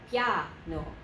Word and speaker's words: piano: You're going to say it as a two-syllable word. Piano, piano, piano, piano. Two syllables.